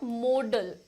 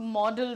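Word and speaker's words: modal: हिस्से को कहते हैं मॉडल मॉडल की स्पेलिंग पर ध्यान दीजिएगा अक्सर स्टूडेंट इसको मॉडल लिख देते हैं बट इट इज नॉट मॉडल related to modelling ठीक है दिस इज मोडल ये कहां से आता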